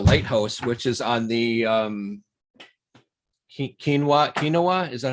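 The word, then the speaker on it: Keweenaw: out by the Lighthouse, which is on the Kinawa. Is that how you pronounce that? Peninsula. Yep. Kinawa Peninsula.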